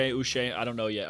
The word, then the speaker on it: Uche: Joshua Uche. Uche, I don't know yet. Until I saw somebody say that it's pronounced Uche.